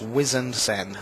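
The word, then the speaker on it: Wizened Cenn: It's Harbinger, and it's Wizened Sen.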